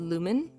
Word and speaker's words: Lumine: I don't know if it's supposed to be Charizards, but I got Chaotic Charizards, and they recommended Lumen. Spelled like Lumine, but said by lumen, like luminescence.